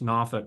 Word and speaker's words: Norfolk: And for my Virginia friends, notice that I did pronounce Norfolk correctly.